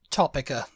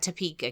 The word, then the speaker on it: Topeka: of that yeah uh topa topa get out TOA topa topa for it to be topa it would have to be CK we're talking about Topeka Kansas topa t o